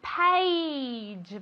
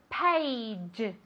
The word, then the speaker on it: page: Very good, page. Vale, esto es difícil de pronunciar. Se escribe con una A, pero se pronuncia como si fuera E-I. ¿Vale? Page, page.